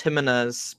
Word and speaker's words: Jimenez: Jimenez surprisingly Jimenez like I it is pronounced Jimenez but um I know I just like to